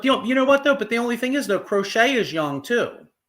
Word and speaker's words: Crochet: cro crochet how do you say his name crochet crochet yeah well apparently the white socks are re